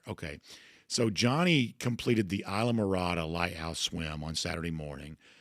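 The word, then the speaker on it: Islamorada: Okay, so Johnny completed the Isa Marada Lighthouse Swim on Saturday morning which is that's how that's uh pronounced for those in Northeast Georgia.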